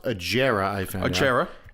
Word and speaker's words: Agera: And then they also brought in an extremely rare and awesome Koenigsegg, it's actually pronounced Agera, I found out.